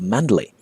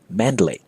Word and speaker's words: Mandalay: that will go to Mandalay well the name of the city the proper pronunciation in Burmese is not Mandalay but mandala mandala the verb to